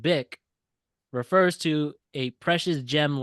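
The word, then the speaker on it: Bích: pronounced bick refers to a precious gem like jade often associated with purity and elegance.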